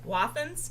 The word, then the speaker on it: Wathen's: This All is the, I'm going to say it wrong again, Wathen's.